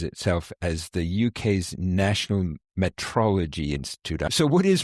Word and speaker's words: metrology: And I'll start with what it's not, because it's not meteorology, which sounds very similar and is spelt very similarly as well.